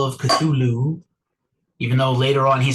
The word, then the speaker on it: Cthulhu: Call of Cthulhu, the proper pronunciation if you are a Lovecraftian person.